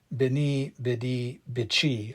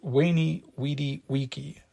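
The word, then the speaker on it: veni, vidi, vici: Julius Caesar's famous adage beni bed. I came, I saw, I conquered. But it truly in classical Latin, those words would have been pronounced wayy, wedi, wiki.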